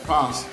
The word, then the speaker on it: Probst: Probst, I want to say it right, Probst.